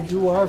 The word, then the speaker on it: Dewar: Has anyone heard of a Dewar flask? D-E-W-A-R, spelled like a Scotch.